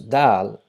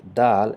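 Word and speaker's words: ذال: So Dal is the English equivalent of Dal is letter D, but D not as in den, but as in the letter the, th in the letter the. So how we pronounce this or that or the in English, it's exactly the same sound of Dal.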